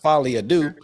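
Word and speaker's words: Folie à Deux: meaning of it but it still pronounced fad do okay cool yeah Joker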